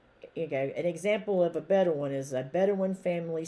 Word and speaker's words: Bedouin: of necessity during your lives as a bedouin a better one that's how you pronounce it b-e-d-o-u-i-n a better one or other type of nomad okay a bedouin